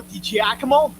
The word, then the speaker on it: DiGiacomo: I heard that Joe DiGiacomo, he's my other Italian guy, my He's good buddy.